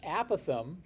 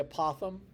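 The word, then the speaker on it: apothem: distance from every vertex the apam some people say apoem I'll take it either way it doesn't matter to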